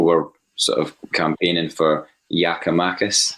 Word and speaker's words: Giakoumakis: sort of campaigning for Giakoumakis, is that the right pronunciation? Apparently so.